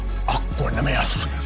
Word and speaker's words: Equanimeous: And you didn't say his name right. It's Equanimeous.